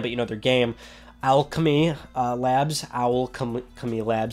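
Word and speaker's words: Owlchemy Labs: You might not know their name, but you know their game, Alchemy Labs. That's how you pronounce their name.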